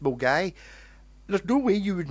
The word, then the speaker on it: Milngavie: I mean, there's a place, Milngavie, in Glasgow, which is spelled Milngavie, which is pronounced Mulgai.